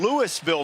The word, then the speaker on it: Louisville: That is Caleb Warren, a sophomore from Louisville, Mississippi, where they pronounce the S.